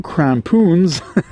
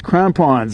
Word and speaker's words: crampons: January I call them krampoons. And he said, "Steph, in English it's krampons. It's it's it's pronounced the same way that it's spelled crampons."